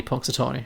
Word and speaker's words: Punxsutawney: Punxsutawney, okay. Did you say it like 2 million times in this film? Okay, fine. Punxsutawney.